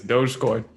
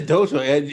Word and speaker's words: Dogecoin: I had to look up how to pronounce. I guess it really is Dogecoin. Holy shit. It is Dogecoin.